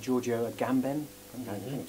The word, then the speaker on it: Giorgio Agamben: And at the moment I've latched onto this stuff, these theories of a guy called Giorgio Agamben.